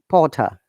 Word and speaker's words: Potter: Potter, water, no R sound.